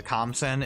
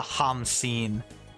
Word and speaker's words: Khamsin: Actually, I've been mispronouncing the Khamsin. It's actually the Hamsin is his title.